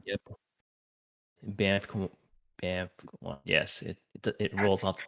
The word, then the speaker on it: Banff: The Banff Yeah, one. so I Am I got, pronouncing that right? yep, Banff, Banff.